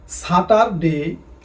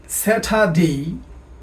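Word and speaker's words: Saturday: আগে আমরা বলতাম সাটার ডে বাট ইটশুডবি স্যাটারডে।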